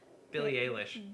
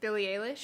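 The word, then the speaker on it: Billie Eilish: music recommendation would be Billy how do you pronounce it hair Billy a leash Billy a leash we've talked about her on the show violent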